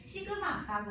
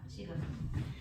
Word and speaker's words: 시그마: 요걸 가지고 이제 수열의 합을 나타내는 건데 시그마라고 읽어주시면 됩니다. 시그마.